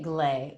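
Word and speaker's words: GLAE: Yeah, we're calling it glay, which is probably not the perfect pronunciation using this AE combination, but in any case, it stands for Global Luminary Activation Experience.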